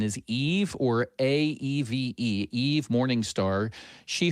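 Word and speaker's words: Aeve: Am I pronouncing your name right? Is it Eve or Ave? Are you able to hear me? I'm able to hear you. We got you. Thank you. And I go by Ave as a play on atheist.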